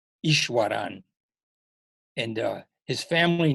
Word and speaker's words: Easwaran: You better spell that name. No, it's Easwaran, Ishwaran.